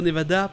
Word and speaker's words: Nevada: Mais vraiment si vous êtes au Nevada, prononcez-le "NevAda" avec le son "A".